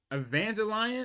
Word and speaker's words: Evangelion: out how to say Evangel Evangelion is how you say it. It's been a while since I've seen it, but hold on. You know what? I'm just say Evangelion. Just tell me if I'm saying it wrong.